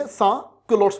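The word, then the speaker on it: sans-culottes: और जो इस प्रकार की ड्रेस पहनता था उसको बोला करते sans culottes, यहां पे रहेगा एस साइलेंट, sans culottes बोला करते, मतलब जो इस प्रकार की ड्रेस पहनता है।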